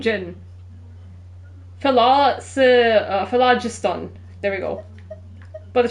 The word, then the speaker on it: Phlogiston: I forgot to pronounce it. First, a tracing of Philoston. Why am I saying Jin? Phlogiston.